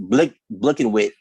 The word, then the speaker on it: BLKNWHT: or if you really pronounce it, Blickenwit, .com.